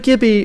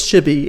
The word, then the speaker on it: Gibi: our guest jimmy which it sounds like gibby or looks like gibby but it's shibby it's like how it's